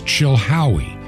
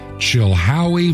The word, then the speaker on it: Chilhowie: 510 P.O box 510 the city is Chilhowie chill Howie Virginia Chilhowee is spelled c-h-i-l-h-o-w-i-e Chilhowie Virginia and the zip code in Chilhowee Virginia is 24319 that's 24 3 1 9.